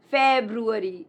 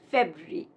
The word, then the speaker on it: February: It's not February, it's February.